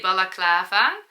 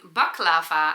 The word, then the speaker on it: balaclava: In Dutch we say balaclava. Balaclava. I think it's okay in English too. I make the mistake every time I am saying baklava, and baklava is a kind of cake.